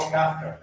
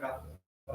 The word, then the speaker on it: Kafka: It's Kafka. Is that Yeah, how you pronounce sure. it? Kafka? As in Franz Kafka? Yeah, that's me. Kafka. Kafka. Some people say Kafka, that's fine.